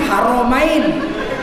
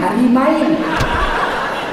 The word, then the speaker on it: Haramain: raja Salman khadim haromain ditulis salah pula membacanya Raja Salman khadim harimain selamat datang penjaga dua istri dia pendjaga kota suci khadim Haramain dibaca khadim hanimain Untung dia enggak protes